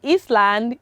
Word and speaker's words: island: one is common and i-s-l-a-n-d i'm sure some pronounce it as island it is not island because letter s the letter s coming after